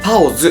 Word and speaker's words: 包子: さよなら天さんのチャオズじゃなくてパオズっていうらしいんですよね。